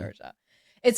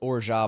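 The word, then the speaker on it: orgeat: So it's ora, but it's o r g e a t. I remember when I was learning about it, I was like or I thought it was or you know orit.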